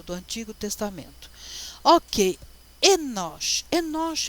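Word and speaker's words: אֱנוֹשׁ: Mas esses 3 pontinhos vai dizer assim, olha, pronuncia essa letra como E, tá? Esse é o N, esse é o O e esse é o Sh, tá? Enosh.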